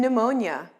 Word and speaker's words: pneumonia: k no and knight p psychology and pneumonia s isle and island